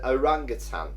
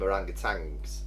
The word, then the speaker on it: orangutan: I think for years I called them orangutans with a G at the end. I did that. I did that as well. I was quite surprised when I found out there's no G on the end.